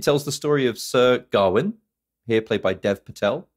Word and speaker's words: Gawain: read it as as go win gawain but in the movie they pronounce it garwin well okay yeah garwin